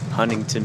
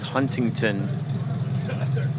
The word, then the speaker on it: Huntington: this is really cool even though it's spelled Huntington uh folks like to call it h Huntington they just they just Bowl right over the uh the teas and it's a it's